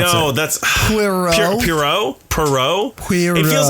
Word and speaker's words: Poirot: Oh, it's hard for me to pronounce. I know. It. That's Poirot.